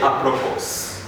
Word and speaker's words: apropos: have letter s where we have s being silent in the following ones so the first one